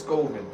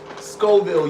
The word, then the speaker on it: Scoville: do they measure what is skoven Scoville my bad Scoville my bad I said it I said it wrong it's Scoville unit that's how they measure